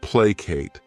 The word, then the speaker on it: placate: The next verb is placate. This word has 2 syllables, and the stress is on that first syllable.